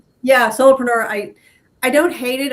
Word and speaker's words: solopreneur: I don't like, you know, I I don't like being a soloreneur. Am I saying it wrong? A soloreneur. I um yeah, solopreneur.